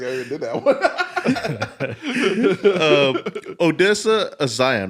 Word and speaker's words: Odessa Zion: Odessa Zion, right? That's how you say it? Odessa Yes, Zion yes.